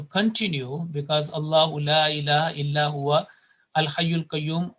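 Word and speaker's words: إِلَّا هُوَ: The vaw with a fatha will take a sukoon and it will be illahu.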